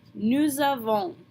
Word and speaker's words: nous avons: So we're going to smash the two words together and pronounce the S on the end of nous like a Z, nous avons.